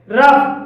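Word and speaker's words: rough: इसलिए इसे कफ बोलेंगे रफ रफ में ओ यू के बा जी एच आया है और यहां पर जी एच का उच्चारण फा के लिए हुआ है तो इसे रफ बोलेंगे इनफ इनफ में ओ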